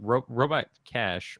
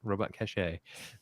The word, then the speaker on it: Robot Cache: even larger scale like robot cash robot cachet is pronounced cash it is I it's